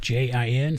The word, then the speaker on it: Jen: That's my wife, Jen, to the left, Jin, sounds like the drink, but spelled with a J, and you two beautiful people.